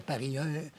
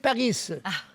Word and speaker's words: Paris: Pas qu'on devrait dire Paris. Un Français qui m'a dit « Est-ce que vous dites Paris? » Ben, j'ai dit « Non, on dit Paris.